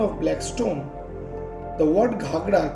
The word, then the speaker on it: Ghagra: stone the word ghagra came from the word gagra which means water filled metal pot the gargling sound of water led to such naming of the falls during british rule indigo merchant frederick rice pronounced it as ghagra which continued thereafter actually the shape of the